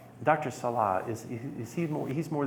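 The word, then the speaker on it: Salih: Is it Sala? Sala, S-A-L-I-H. Sala, not Salah.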